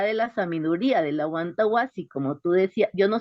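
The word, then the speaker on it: Amawtay Wasi: de la Universidad de la Sabiduría, de la Wantawasi, como tú decías. Yo no sé pronunciar muy bien eso, Mónica. ¿Sí? Y ella trabaja mucho las educaciones otras y la Sí, es descolonización. Amautai. ¿Cómo es? Amautai Guasi.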